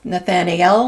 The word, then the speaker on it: Nathanael: half were under General, now it sounds like you would want to say Nathaniel, like I-E-L, but it's spelled NathanAel. So it's Nathaniel, maybe?